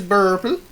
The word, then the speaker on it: Burple: My name is Burple. It rhymes with purple.